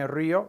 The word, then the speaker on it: río: You want to say me río, there's an accent on that I to break up the diphthong.